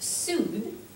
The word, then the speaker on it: Sud: or S excuse me e EST South is Su s u and then West is West pronounced West but spelled o u s t